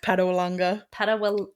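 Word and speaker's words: Patawalonga: Padawanga.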